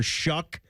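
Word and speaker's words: Shough: That's actually a good guess cuz it's Tyler Shuck.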